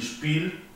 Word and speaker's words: Spiel: La EI, by, y Spiel, la IE, una I un poco más larga.